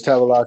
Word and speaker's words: Tavalace: Can you give me the correct pronunciation, sir? Yes, it's Tavalace, your honor.